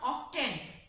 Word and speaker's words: often: And I have told in my previous class, this is not often. Here the sound T is silent, so it is often.